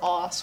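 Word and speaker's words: osu!: I'm trash at Osu, or Os rather, that's how you pronounce it.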